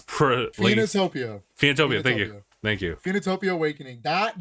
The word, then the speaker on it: Phoenotopia: And this one, whose name I cannot really pronounce, Phoenotopia. Phoenotopia.